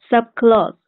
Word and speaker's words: subclause: 老师好。Vote, voting, subclause.